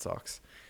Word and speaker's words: SOX: sox and the in the anime that actually pronounced it socks uh where he is forced to spread obscene